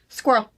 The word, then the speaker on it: squirrel: Ben did you know the longest one syllable word in the English language squirrel squirrel squirrel it is